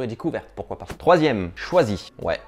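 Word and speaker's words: Chwazi: Troisième, choisi. Ouais, mais ça s'écrit pas choisi comme on a appris au CP. Non, C-H-W-A-Z-I.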